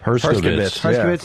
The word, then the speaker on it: Herskovitz: Herskovitz.